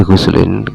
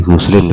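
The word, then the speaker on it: غسلٍ: Qalu la fi ghuslin ditanwini dengan tanwin. Berarti sampean bacanya la fi ghuslin seperti itu ya.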